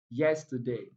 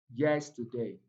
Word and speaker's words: yesterday: T and day contains weak vowel sounds, so they are not stressed. The two syllables, the last two syllables are not stressed, so the stress falls on yes, yesterday.